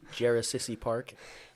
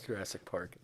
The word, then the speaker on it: Jurassic Park: Jarasissy Park. I don't understand. Yeah, it's Jurassic Park.